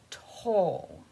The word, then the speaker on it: Toile: It's pronounced toll.